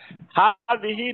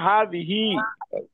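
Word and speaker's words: هذه: হাযিহি নিচে লম্বা যে খাড়া জের আছে আর কি উচ্চারণে। হাযিহি মানে খাড়া জের হবে আর কি।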